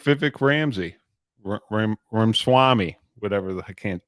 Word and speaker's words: Ramaswamy: But that, just like Vivek Ramsey, Ramaswamy, whatever, I can't pronounce his name correct.